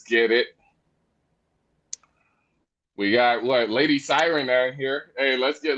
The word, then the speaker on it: Syren: Is that how you pronounce it? Lady Syren.